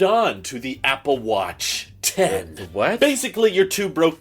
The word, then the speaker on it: X: call it Apple watch x okay it's pronounced 10.